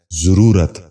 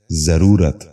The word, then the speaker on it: ضرورت: ضرب۔ پانچواں لفظ ہے ضرورت۔ یہ غلط تلفظ ہے، درست تلفظ ہے ضرورت۔ دوبارہ سنیے، ضرورت۔ بچوں